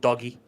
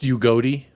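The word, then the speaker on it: Udogie: He's not being stopped by a man called Doggy. Also, so it's pronounced Ugodi, by the way.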